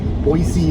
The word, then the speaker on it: Boise: Ontario's a V3 250, and Boise, or is it, what's the other way, Michael? Boise or Boise. Boise is what the locals say, Michael says, after doing some research.